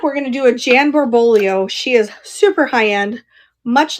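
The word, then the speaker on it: Jan Barboglio: Jan Borbolio is how you say her name.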